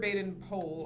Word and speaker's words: Baden-Powell: And one of those friends is Sir Robert Baden-Powell, or sometimes pronounced Powell.